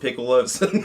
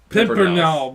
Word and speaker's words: Pimpernels: Now running up against the Scarlet Piccolos. It's not pronounced Piccolos. It's Pimpernel.